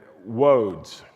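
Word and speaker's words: Łódź: And I'm not pronouncing that correctly, but it's spelled Lodz, and it's got that little slash mark through it, and that little slash mark means it's more of a W sound than an L sound.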